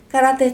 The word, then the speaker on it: caráter: com essas palavras caráter caráter termina com r Então se caráter a sílaba forte é a penúltima é o ra cará se eu for